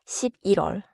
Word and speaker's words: 십일월: 10월 not 10월 11월 is November. You may see 11 plus wall but the sound connects naturally 11월 is 6월 is